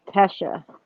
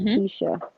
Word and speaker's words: Letecia: And I noticed she pronounced her name as Tesha instead of Tisha.